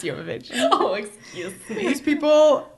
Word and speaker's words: Jovovich: It's pronounced Jovovich.